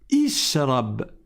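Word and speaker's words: اشرب: Parce que si je reprends mon souffle ou que je ne prononce pas le premier mot, je vais dire quoi? Ishrab. Ishrab. Et je vais commencer par une voyelle.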